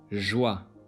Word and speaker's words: joie: J is pronounced as Je, joie, séjour.